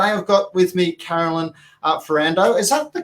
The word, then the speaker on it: Ferrando: Today I've got with me Carolyn Ferrando. Is that the correct pronunciation? It is. You did well. I normally get Fernando, like the ABBA song, so you've nailed it. It's Ferrando.